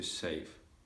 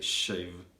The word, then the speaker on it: shave: i i'm going to save and i was trying to say shave shave and i was saving save save and because my pronunciation